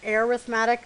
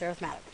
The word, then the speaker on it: arithmetic: um arithmetic sequences um this word is arithmetic not arithmetic sequences uh this is that word written as an adverb no adjective there we go um so it's pronounced arithmatic so arithmetic sequences are sequences that uh to